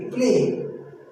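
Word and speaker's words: play: देखिए प्ले, हमने क्या पढ़ा? प्ले। हमने क्या पढ़ा? प्ले। तो ये जो आ रहा है इस ए का, वाई का नहीं आ रहा है। वाई यहां पर साइलेंट है, ठीक है ना।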